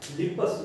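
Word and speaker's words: Lippes: तो जो non medicated device use करी उसका नाम है क्या, लिपस लूप, लिपस लूप, ठीक है। लिप्स लूप भी बोलते हैं, लिपस लूप भी बोलते हैं, जैसा प्रोनाउंसिएशन आपको सही लगे, ठीक है ना।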